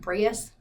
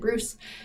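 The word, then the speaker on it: Breus: of when Dr Michael Bruce it's spelled b Ru s so it looks like braus but he pronounces it Bruce I I read this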